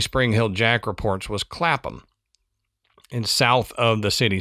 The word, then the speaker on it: Clapham: And man, I had to look that up cuz it's Clappam. Yeah, it's spelled like clapham. And to my American sensibilities, I would say clapham, but I know that's not the way that it's pronounced in the UK.